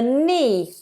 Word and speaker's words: knee: here is called the knee silent k n knee knee my thigh my knee and